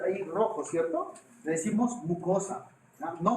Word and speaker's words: mucosa: Le decimos mucosa. ¿Ah? No mocosa. Le decimos mucosa. ¿Ah? Por alguna vez también que tengas diferencia de habla, ¿no? Y eso, pero pronuncia bien, ¿no? Es mucosa.